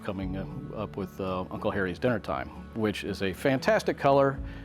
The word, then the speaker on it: DNR-Time: Uncle Harry's Dinner Time, DNR-Time, pronounced dinner.